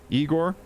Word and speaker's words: Igor: Frankenstein remember Young Frankenstein where he meets uh Igor he's like dr. Frankenstein it's pronounced Frankenstein and you're Igor now it's pronounced